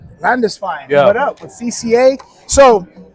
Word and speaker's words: Landesfeind: Today's first guest, Landisine, regional director, Central California Coastal Conservation Association of California. All right. How do you pronounce that? Landisfine. Landisfine.